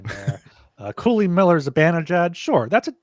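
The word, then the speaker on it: Cuylle: So it's Cooley. I wouldn't be able to guess that either. Cooley. Apparently, it's pronounced Cooley.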